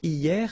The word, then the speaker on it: hier: Hier means yesterday, okay? Hier. So remember, this H here is not pronounced, okay?